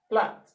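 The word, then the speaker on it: plait: l a i t true a i here shows realization for the short r sound so you say flat plat it also shows a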